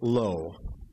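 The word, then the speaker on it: לא: word not is pronounced low and how is the word belonging to him pronounced low it's just one letter difference you have Lama that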